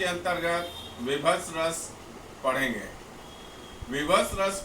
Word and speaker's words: बीभत्स: इसको ब का उच्चारण जनरली विभत्स के रूप में लोग करते हैं, किंतु विभत्स सही इसका उच्चारण है।